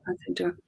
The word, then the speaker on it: Anthony Doerr: Is it Anthony Doerr? And so that's the story of the Second World War. Yeah, that's it. There we go. Anthony Doerr.